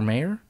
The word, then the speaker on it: Mayer: It's pronounced Mayer, but it's spelled M-A-Y-E-R. Just think the song. That's ridiculous. M-A-Y-E-R, like John Mayer.